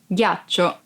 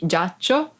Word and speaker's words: ghiaccio: Ghiaccio. Ice. Ghiaccio. Ice. Be careful because if you don't pronounce G as a hard sound like G, it would be giaccio, that it's a verb and means lie down.